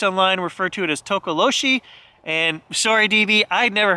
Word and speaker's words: Tokoloshe: It's Tokoloshe, Tokoloshe, Tokoloshe. It's pronounced many different ways. So I'm going to refer to this cryptid that I've never heard of as Tokoloshe.